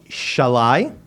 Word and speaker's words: Sallai: Now, I got their names here, and I'm going to pronounce them correctly. Noemi Shalai, okay, and Balint Garoshi.